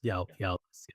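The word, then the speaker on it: eòlas: Yeah, so because Scottish Gaelic, so Eolus for Eolus is Eolus. E-O-A, what am I saying? E-O-L-A-S. Eolus.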